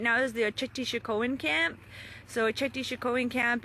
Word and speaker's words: Oceti Sakowin: Again, what I'm showing you right now is the Oceti Sakowin camp.